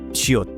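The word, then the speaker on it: ㅅ: Korean s is much softer and less aspirated. To try it, instead of pushing air through clenched teeth like English S, open your teeth slightly and let a gentle stream of air pass through.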